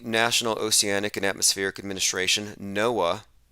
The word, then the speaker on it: NOAA: oceanic and atmospheric administration noaa it's actually pronounced noah that their main symbol